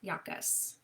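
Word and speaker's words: Iacchus: And her attendants are Hecate and, uh, Yak Yakus. It's I A C C H U S. That one is uh tricky to pronounce.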